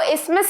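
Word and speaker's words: isthmus: इस्मस ठीक है और ये जो टीएच है ये साइलेंट होता है इसको इस्मस ही प्रोनाउंस करेंगे सो ऑप्शन सी विल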